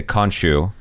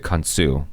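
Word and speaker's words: Khonsu: kansu and kanchu like the name that is used in the marvel tv show is actually a slight mispronunciation of the word okay like they say konchu yeah right but it's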